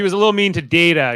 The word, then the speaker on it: Data: a little mean to data she mispronounced his name as dada a lot of the